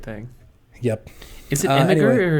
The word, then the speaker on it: Imgur: Is it Imgur or is it Imgur? I have no idea. Once again, the soft G versus hard G. I know. I feel like I should pronounce it Imgur. That makes more sense, right? Because it's like an image. Yeah. But like I see that GUR and I just want to say grr.